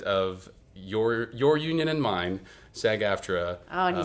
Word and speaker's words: SAG-AFTRA: President of your union and mine, SAG-AFTRA.